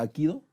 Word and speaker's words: Hapkido: Porque, por ejemplo, ¿han oído hablar ¿cómo se pronuncia? Hapkido.